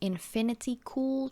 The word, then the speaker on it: Infinity Cool: wrong a little earlier it is infinity cool just like an infinity pool and i think i